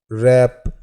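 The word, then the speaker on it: wrap: कुछ और वर्ड्स की बात करें तो जैसे राइट, रॉन्ग, रिस्ट, रैप, इस प्रकार के ये जो वर्ड्स हैं इसमें W साइलेंट है।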